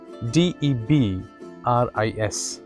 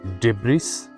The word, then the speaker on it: debris: DEBRIS. It is not debris, it is debris. Debris.